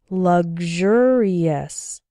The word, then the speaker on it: luxurious: as well as luxurious in the word sexual the X sounds like ksh sexual and in luxury and luxurious it sounds like gzh good luxury luxurious I often hear students